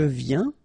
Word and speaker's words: viens: Final S not pronounced, okay? And when you combine this IEN, you get this yin, yin.